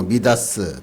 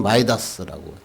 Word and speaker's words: 미다스: 형통을 어떻게 생각합니까 뭐 미다스 또는 마이다스 옛날에 마이다스 발음을 해가지고 그랬죠 마이다스 내가 손을 닫는